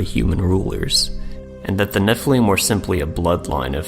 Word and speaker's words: Nephilim: In this variant spelling in Numbers 13, we see a scribal gloss, indicating the base word of Nephilim was originally pronounced with a long E.